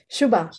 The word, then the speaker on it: Shuba: Is your name pronounced Shuba? Shuba, that's right. It's Shuba. It's Shoebox without an X. So Shuba.